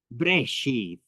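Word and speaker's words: בראשית: Here's the first word in Aramaic, brashith. And in Hebrew, it's breshith. But it's the same word, just pronounced slightly different.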